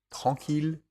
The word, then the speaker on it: tranquille: Ville, tranquille et mille, et leurs dérivés comme villégiature, tranquillement ou millénaire. Ils se prononcent il.